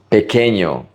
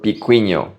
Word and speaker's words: pequeño: Pequeño. It is pronounced pequeño, not pequeño or piquiño.